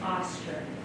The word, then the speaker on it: Ostar: know how to pronounce my first name is ostar like an ostrich so um I received